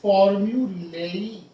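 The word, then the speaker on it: formulae: फॉर्मूला, फॉर्मूला का दो accepted है, फॉर्मूलाज भी एक्सेप्टेड है, फॉर्मूलाज एंड फॉर्म्यूलेई या फॉर्म्यूली। इसका करेक्ट प्रोनाउंसिएशन फॉर्म्यूली भी है और फॉर्म्यूलेई भी है, दोनों एक्सेप्टेड है।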